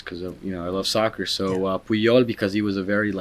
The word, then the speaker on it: Puyol: And the Basset Hound, his name is Puyol. Puyol. And the names are they're Catalan names. Okay. From the Barcelona, but they're named after soccer players because I love soccer. So Puyol because he was a very strong defender, pretty